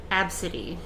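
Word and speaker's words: Abcde: real life name would probably be absidy it's spelled a b c d e and yes that that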